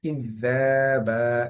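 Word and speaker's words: كذابا: ইযযাবা, এখানে জালের উপরে খাড়া জবর আছে, এই কারণে একালিফ পরিমাণ টান হচ্ছে।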